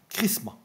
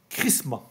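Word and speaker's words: χρῖσμα: regardé l'esprit en grec vous savez comment ça ça se prononce comment chrisma chrisma est onction euh en grec c'est chrisma voyez le lien qu'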